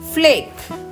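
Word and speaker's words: flake: இங்க பாருங்க ரெண்டு கடைசியா வந்து ஒரு ஈ வருது, அதை நம்ம வந்து உச்சரிக்க மாட்டோம். இதை வந்து நம்ம மேஜிக் ஈ அப்படின்னு சொல்லுவோம் இங்கிலீஷ்ல, அல்லது சைலண்ட் ஈ அப்படின்னு சொல்லுவோம். கடைசியா வர ஈய நம்ம வந்து உச்சரிக்க கூடாது. இது வந்து இங்கிலீஷ்ல ஒரு ரூல்.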